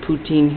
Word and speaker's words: Putin: discovered that putine was they pronounce it poutin here in France was behaving just as